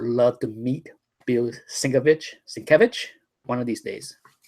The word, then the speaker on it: Sienkiewicz: well Bill svich okay I finally know how to pronounce his last name because the man himself explain it svich but one of my